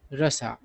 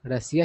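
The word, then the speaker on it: Russia: Narendra Modi visit to रसा है ना सही उच्चारण होता है रसा लेकिन ज्यादातर लोग रसिया ही बोलते हैं ठीक है इससे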